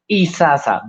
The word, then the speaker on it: Isaza: problematic thing but yes it's isasa basically because in Spanish you pronounce a z a little bit like the S is there's not much difference yes works so what